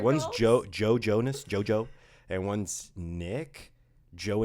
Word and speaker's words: Jonas: How about the Jonas Brothers? I'm sorry, the Jonas Brothers. Oh, I pronounced it as a soft J.